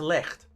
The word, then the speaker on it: Lech: Back to Lecht. Is that how I pronounce it? Lecht. Yeah, Lech. A lot of phlegm. Yeah. Put a lot of phlegm in it.